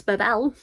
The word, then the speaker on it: Babel: anyone who doesn't know Babel is English pronunciation Babble is the American pronunciation if you want the French pronunciation it's Babel so you know there's